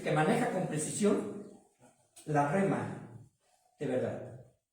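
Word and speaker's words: ῥῆμα: que se escribe, y la voy a deletrear por si está escribiendo, J-R-E-M-A. J-R-E-M-A. La pronunciación, hasta donde he podido verlo, ¿verdad?, constatar, es rema.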